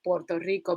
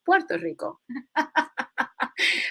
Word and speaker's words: Puerto Rico: is rich port, and a lot of gringos love to say Puerto Rico because they don't know how to pronounce Puerto Rico.